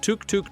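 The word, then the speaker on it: tuk-tuk: come from the distinct touk tuk tuk sound of its engine. A kind of cute sputtering purr that stuck around. In Thai, the pronunciation even falls somewhere between a t and a d, giving it its quirky charm.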